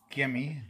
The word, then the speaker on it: Gemmy: well I have this gimi g e mm y I think it's pronounced light projector that's for